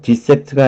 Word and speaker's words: dissect: dissect가 아니고 die로 발음합니다.